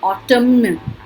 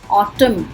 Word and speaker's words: autumn: So N is silent in autumn. We don't say autumn. जैसे column होता है, हाँ देखो column. Autumn, उसे autumn बोलते हैं.